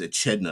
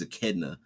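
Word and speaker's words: Echidna: from uh Greek mythology is it a kedna um I think it's I don't think it's aedna I think it's a kedna uh from Greek mythology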